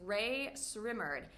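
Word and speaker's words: Rae Sremmurd: This American hip-hop duo is Ray Srimmerd. And did you know that it is two words spelled backwards? Drummer's ear?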